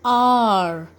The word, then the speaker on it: hour: Now look at this example, an hour. Here why we have used an? Because H is silent.